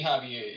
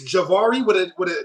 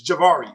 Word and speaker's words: Javari: It used to be Javier. You used to call me Javier. Yeah, so that's why I changed it. I thought I was saying it right. So it's Javari it's Javari. That's how you say it? Yeah. Okay, my bad. Yeah, the J.